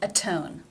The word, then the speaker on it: atone: In the first word, it is pronounced as a D, and in the second word as a T. Why is that? Auto, atone. The reason is, think back to Rule 1, because the T in atone is beginning the stressed syllable.